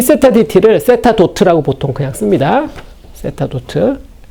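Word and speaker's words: θ̇: d 세타 dt를 세타 도트라고 보통 그냥 씁니다. 세타 도트. 점 하나 찍는 거죠. 간단하게 쓰기 위해서 뉴턴이 쓴 노테이션이에요. 시간에 대한 1차 미분은 위에다 점 하나 찍는다. 세타 도트라고 읽어요. 따라 해볼까요?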